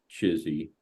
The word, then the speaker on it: CHSI: human super intelligence and we pronounce it chizy that's how we pronounce the acronym and you can also